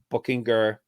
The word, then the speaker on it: Buchinger: Buchinger. We'll call him Buchinger. His nickname is Bookie. That tells you how to say his name right there.